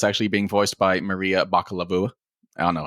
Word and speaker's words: Bakalova: being voiced by Maria Bakalova. I don't know how to say her name. It's obviously Baklava. No, it's Bakalova. It's definitely Baklava.